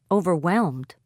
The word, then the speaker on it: overwhelmed: Stress on third syllable. Disappointed. Overwhelmed.